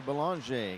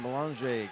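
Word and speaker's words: Belanger: a n g r but has the French pronunciation here's Logan Wells for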